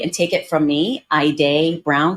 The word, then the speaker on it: Haydeé: an important topic the name your name particularly pronouncing someone's name properly and take it from me I day Brown spelled h a yde e Brown is